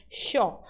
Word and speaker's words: yo: Ou você pode fazer o som de SH, que é o som de los porteños de Buenos Aires. Yo.